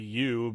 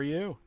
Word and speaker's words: Ü: I guess you were supposed to pronounce it like Toy Story U, but the letter U had those weird dots over it.